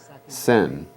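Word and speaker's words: shen: spoken years later i learned that he did pronounce it correctly sen like s like the chinese pronounce saolin because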